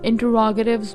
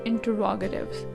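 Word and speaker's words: interrogatives: में पढ़ते हैं तो समटाइम्स लोग इसको इंटेरोगेटिव प्रोनाउंस करते हैं, which is wrong. इंटेरोगेशन is right, जिसका मतलब है सवाल जवाब करना, तफ्तीश करना. लेकिन यहाँ पे जब ये इंटेरोगेटिव के स्पेलिंग लिखे हुए हैं, आपने इसको इंटेरोगेटिव नहीं पढ़ना. The right pronunciation is इंटरोगेटिव्स.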